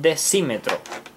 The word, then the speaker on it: decímetro: También tenemos el decímetro. Decímetro. Decímetro. Y también lleva acento en la I.